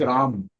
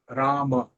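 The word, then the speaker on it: राम: So in the north, it is Ram. Sanskritam, it is Rama.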